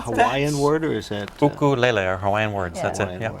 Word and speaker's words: ukulele: The name ukulele.